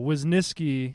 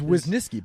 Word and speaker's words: Wisnieski: I couldn't hardly tell wasniski is wisnisky but it's got a w in it not in the middle not in the middle